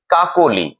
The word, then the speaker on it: কাকলি: আমরা একটি উদাহরণ দিয়ে দেখছি, কাকলি। কাকলি এই শব্দটিতে আমরা খেয়াল করছি মধ্য ক ধ্বনিটির সাথে অকার রয়েছে, অর্থাৎ নিয়ম অনুযায়ী এই অকারটি ও রূপে উচ্চারণ হবে।